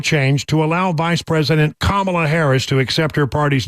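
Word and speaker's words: Kamala: comma in that ad she introduced herself as I'm kamla Harris I guess she would be the authority on that right she's the ultimate Authority so on all you people to say I'm pronouncing it wrong I'm sticking with my initial pronunciation comma uh okay so there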